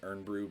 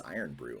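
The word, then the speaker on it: Irn-Bru: iron Brew earn Brew I always thought it was earn Brew but uh my my wife saw it and said what's iron brew and I'm like oh I think you added extra syllables I think I've mentioned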